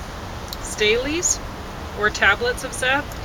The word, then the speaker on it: stele: 3 stales, or tablets of Seth. Steles. Steles? Ordinarily, I would say stele would be a better pronunciation.